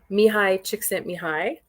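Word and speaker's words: Mihaly Csikszentmihalyi: But there's a sociologist or a psychologist named Mihai Csikszentmihalyi. That's really how you pronounce it.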